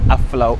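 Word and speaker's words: Aflao: How did you pronounce it? Aplau.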